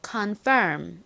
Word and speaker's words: confirm: 무슨 단어였고 한국식으로는 컨이라고 발음합니다 실제 미국식 영어 발음으로는 confirm 이렇게 발음을 하는데요 적어 볼게요 좀 어려운 단어이자